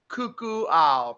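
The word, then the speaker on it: Kukuau: is it it's k-u-k-u-a-u which is what cuckoo ow pronounced totally indigenous to this neighborhood and you've got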